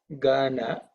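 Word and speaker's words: गण: So in this case, Gana, Ga is Alpa Prana, Gha is Mahaprana. Gana and Ghana.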